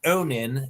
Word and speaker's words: Onin: Oh, my novel is called Onin. It's spelled O N I N and it's the name of the of the main character.